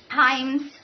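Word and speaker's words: hymns: हिम्स कहे जाते हैं, HYMES, हाइम्स हिम्स, actual pronunciation हिम्स है, वहां पे उनको क्यों डाला गया?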